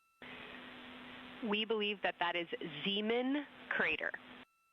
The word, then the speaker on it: Zeeman: We believe that that is Zeeman crater. Zeeman, okay. Now, can you say the first letter? I may be pronouncing that wrong.